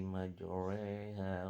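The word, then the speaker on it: مجراها: Waqalarkabu fiha bismillahi majriha wa mursaha. Inna rabbi lagfurur rahim. Di lafal yang berwarna merah ini adalah bacaan imalah, yaitu dia suara roya itu menjadi sedikit miring menjadi berbunyi seperti majreha yang aslinya adalah majraha.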